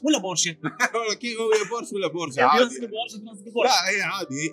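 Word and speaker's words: Porsche: شركه بورشا عالميه الكويت بورش ولا بورشه بورش ولا بورش عا لا هي عادي هي بس يعني تنطق النطق الصحيح له هو بورشه لكن احنا متعودين بورش وحتى الامريكان يقولون ابور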